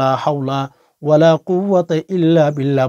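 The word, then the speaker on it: لا حول ولا قوة إلا بالله: কারণ হচ্ছে ভুলে বড়া উচ্চারণ করলে আমাদের লাভের চেয়ে ক্ষতি বেশি হয়ে যাবে মেরে আজিজ এজন্য আজকে লক্ষ্য করুন লা হাওলা ওয়ালা কুয়াতা ইল্লা বিল্লাহ লা হাওলা ওয়ালা কুয়াতা ইল্লা বিল্লাহ লা হাওলা ওয়ালা কুয়াতা ইল্লা বিল্লাহ ইল্লা বিল্লাহ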